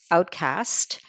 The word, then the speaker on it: Outcaste: read from my novel Outcast and even though there's an e on it uh the pronunciation is just cast like um so it's uh a little misleading that way but um this